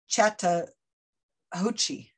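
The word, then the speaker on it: Chattahoochee: and the river is i i can't even pronounce it because i'm going to make my i'm going to embarrass myself it's chata ho chi c-h-a-t-t-a-h-o-c-h-e-e anyway it's a long river runs really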